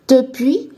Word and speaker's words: depuis: 达时间的介词呢是 depuis，记得这个 s 不要发音哦。那我们这个 depuis 后面呢，我们加时